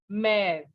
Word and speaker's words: mère: You just understand that wherever this letter E is written with such an accent on it, okay, accent or a line we can say, the pronunciation will be air, okay, like père, mère.